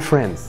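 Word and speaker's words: friends: هي شبه باشمهندس ومريحه للضمير، لكن في الواقع لما يجي لك حرف الدي بين حرفين ساكنين ما ينفعش تنطقه. قول فريندز، قول فريندز، اكسر الحاجز اللي جواك حرف الدي ده وقول فريندز معايا.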